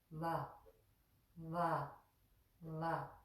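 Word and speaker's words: व: And so with the semivowels, that first one that looks like a V is pronounced very softly. And the way it's pronounced is that we put our upper front teeth on the inner moist area of our lower lip to make the soft va, va, va sound.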